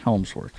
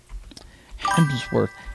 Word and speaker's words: Hemsworth: let's let's hit Chris Helmsworth real quick. Hemsworth. Helmssworth, I think is how you pronounce it. Yeah, it's Hemsworth. Okay. I always want to put an L in there somehow.